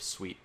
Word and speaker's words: suite: is they're so studio which is a creative suit of programs for assisting in all aspects of the great process it's like it's for now it's pronounced Creative Suite what did I say it's a suit tonight's